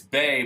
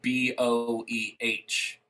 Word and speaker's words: Boeh: And then, but my last name, it's Bay, but it's spelled Boeh. Okay. It's German, so the O is silent or whatever.